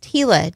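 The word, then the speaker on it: Gila: Uh, Hila is pronounced hila. G I L A is pronounced Hila in New Mexico and Arizona.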